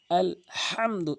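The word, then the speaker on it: ٱلْحَمْدُ: বড় হালকের মাঝখান থেকে উচ্চারণ করতে হয়। আলহামদু আলহামদু এভাবে উচ্চারণ করবেন তাহলে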